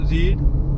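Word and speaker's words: read: एडी आर ई एडी second form है इसका रेड लेकिन स्पेलिंग सेम है रेड आर ई ए डी ही रहता है बट क्योंकि वो सेकंड और थर्ड फॉर्म में उसे वो रेड पढ़ते हैं स्पेलिंग सेम है थ बस प्रोनंसिएशन थर्ड भी थर्ड भी रेड है स्पेलिंग सेम है बट प्रोनंसिएशन चेंज हो गई तो इसका फर्क तुम्हें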